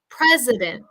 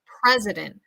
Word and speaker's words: president: schwa I sound preza president president that is definitely going to help you sound a little more like a native speaker using that schwa sound president president uh the president